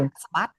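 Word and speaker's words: បាក់ស្បាត: What is Okay, baksbat? baksbat. Okay, baksbat Baksbat? is like a broken spirit. Baksbat. So baksbat, I could say phonetically is Baksbat.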